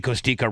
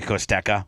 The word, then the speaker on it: Costeka: Costika, but I'm supposed to say Costeka.